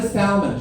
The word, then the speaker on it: salmon: clean uh maybe the salmon she pronounced the L like a Philistine maybe the salmon can